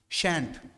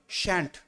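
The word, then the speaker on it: shan't: হবে বানানটা দেখে রাখবে এস এইচ এন টি শ্যান্ট উচ্চারণ কি হয় উচ্চারণ হয় শ্যান্ট মনে থাকবে উচ্চারণ কি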